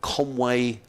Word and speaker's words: Conwy: He took part in a fun run in Wales, actually, at Conway, Conwy. Is that how you pronounce it?